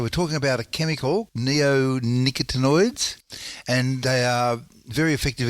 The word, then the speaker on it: neonicotinoids: should so the these chemicals how do you pronounce them Neo neonicotinoids so oid means something like so nicotine means